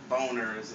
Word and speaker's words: Boehner: house uh majority uh leader boehner boners is pronounced by the computer it's pronounced boner john boner he wants